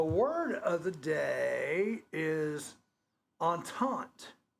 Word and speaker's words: entente: Yeah, entente. And I had to look up how to pronounce it because it's spelled E-N-T-N-T-E.